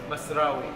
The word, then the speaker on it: Masrawy: John, how do I pronounce the name of this restaurant? Masrawy. Masrawy.